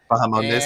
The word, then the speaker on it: Bahamondes: Bahamondes, yes.